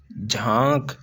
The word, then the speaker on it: झांक: ही इसके अंदर जो ये नून है ये साइलेंट है झांक ऐसा नहीं कि जानक जानक नहीं झांक ऐसे ही चांद चाद